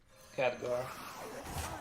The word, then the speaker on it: Khadgar: You would pronounce it Khadgar? No, Khadgar. Khadgar.